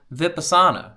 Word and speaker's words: Vipassana: It's Vipassana. Hold on. Vipassana. Yeah, that's what I was saying, right? Vipassana.